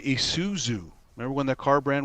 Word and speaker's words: Isuzu: people couldn't even say Isuzu remember when that car brand was popular Isuzu they said Isuzu Isuzu they mess up the S and the Z yeah they're pretty rare